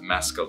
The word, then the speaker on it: Mescal: people get confused with how to pronounce my name because of the drink mezcal. Everybody does it. So I pronounce it mezcal, and I wonder if